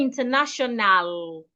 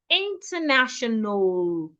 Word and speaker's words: international: So we don't say international, international. The letter A after the N, after the second N, is silent.